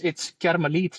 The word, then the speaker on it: Carmelit: And that was Oh, like, no, it's Carmelit.